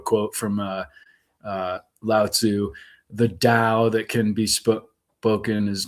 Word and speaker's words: Tao: from Lao Tzu: "The Tao that can be spoken is not the true Tao." And it's spelled DOW as opposed to DAW, and it was what's her name, the blonde woman.